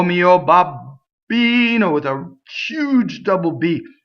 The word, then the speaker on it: babbino: the time o mio babbino with a huge double beef no no no no right o mio babbino Bob be no BB but nice right not